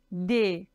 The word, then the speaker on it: des: Un, une, des. D-E-S. On ne prononce pas le S. Des, ok?